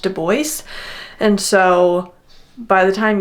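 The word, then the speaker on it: Du Bois: And although web deo knew that he had a French spelled and pronounced name, he explicitly wanted it to be pronounced doce.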